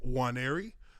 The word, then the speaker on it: Nwaneri: I am your observant lineman, Uche Nwaneri. The N is silent.